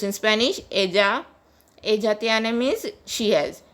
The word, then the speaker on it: ella: Ella tiene means she has. Double L is pronounced as J in Spanish, so it is pronounced as ella.